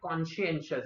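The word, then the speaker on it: conscientious: Next अगर देखा जाए तो नेक्स्ट वर्ड है कॉन्शियंशियस। इसका प्रोनाउंसिएशन ध्यान रखना, कॉन्शियंशियस। कॉन्शियंशन कॉन्शियंस वर्ड से ही आता है। ओके, कुछ लोग इसको कंसाइंस बोलते हैं, बट कॉन्शियंस वर्ड है और उसी से आया कॉन्शियंशियस। Not talking about कॉन्शियंशियस, क्या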